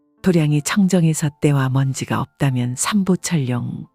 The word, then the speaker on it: 도량: 사는 곳이 다 도량이 마당 장자를 쓰면서도 도량이라고 읽습니다 도량이 청정해 때와 먼지가 없다면